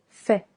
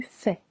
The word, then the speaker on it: fais: Je fais silent s. Tu fais silent s.